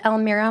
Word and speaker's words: Elmira: everybody my name is Elmira my name is pronounced like El Mira um for those of